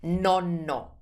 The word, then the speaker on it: nonno: The word for grandfather or grandpa is nonno.